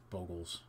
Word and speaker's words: Bogles: Bogles. That's how it's supposed to be pronounced.